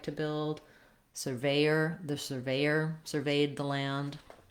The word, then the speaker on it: surveyor: a SIR, as in surveyor. So if I'm looking at surveyor, 3 syllables with the A, surveyor, versus severe, no R in the first syllable and the ear diphthong at the end.